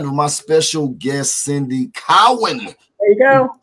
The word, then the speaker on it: Cowan: the very lovely we are out of here i went actually cohen allen cowen saturday wrong you got to say it right cowan and please forgive me